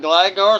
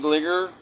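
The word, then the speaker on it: Gligar: This is a reverse foil GL uh I I've always called it Glaggar. Some people call it Gligger. I've always called the Glaggar cuz I I watch a lot of the anime.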